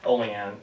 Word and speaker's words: Olean: Olean, but it's spelled like Olean.